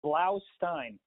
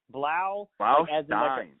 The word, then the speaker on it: Blaustein: It's Stein. I said it wrong again. Michael I wasn't gonna correct you, but you said it really bad that time. It's Blaustein. Blau, Blaustein. Like as in a cartoon, like Blau, and then Stein like Frankenstein.